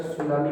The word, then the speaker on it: tsunami: Silent, इसको सुनामी नहीं बोलकर सुनामी बोलेंगे, सुनामी।